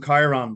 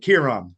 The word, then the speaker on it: Kieran: I didn't hear anything about everybody calls him Chiron, but Kieran. So Kieran. My bad. That's how it's pronounced.